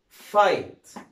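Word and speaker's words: fight: اي او يو اي، اجين حرف الجي اتش لما يجي قبله حرف من حروف المتحركه اي اي او يو اي بيبقى الاثنين سايلنت ما يتنطقوش، زي كلمه فايت ما نطقتش هنا جي اتش خالص، اف اي جي اتش كان جي اتش مش موجوده يبقى اسمها فايت.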